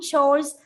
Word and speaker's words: chore: And the pronunciation is chore.